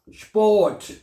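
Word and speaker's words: Sport: ये बनेगा स्पोर्ट। क्या बनेगा? स्पोर्ट, स्पोर्ट, टी को ठे पढ़ा जाता है, स्पोर्ट, स्पोर्ट हो जाएगा, ठीक है, स्पोर्ट, ओके।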